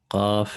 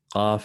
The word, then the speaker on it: ق: قاف النسين.